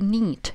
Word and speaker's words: knit: To knit – knit, кей, не читаем, да, перед этим.